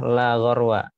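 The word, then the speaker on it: لا غرو: Jadi cara baca adalah la gharwa gitu.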